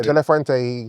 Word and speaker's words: De La Fuente: De La Fuente. Did I say it right? Yeah, he did. De La Fuente.